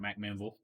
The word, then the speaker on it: McMinnville: out to a in McMinnville McMinnville McMinnville McDowell yeah like there's so many Vegas it's spelled mcmenville but uh the vocals call it McMinnville the math capital I